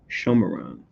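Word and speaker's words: Shomron: I think I have my side caption in my Bible, Shomeron, as far as how to say it in the Hebrew.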